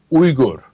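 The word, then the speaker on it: Uygur: get crap for it too because the correct pronunciation of yuger and Turkish is ur right and they're like why don't you say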